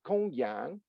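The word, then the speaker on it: Gongyang: Gong is Gong, and for those who know a little bit of Chinese, the G in alphabet transliteration is pronounced like a K, like in kangaroo. So it's Gong Yang Zhuang, Zhuan, and Zhuang can be translated as transmission, tradition, interpretation.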